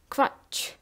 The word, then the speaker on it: Quatsch: Ku, U, is pronounced like kv. Kv. For example, Quatsch. Quatsch. It's nonsense.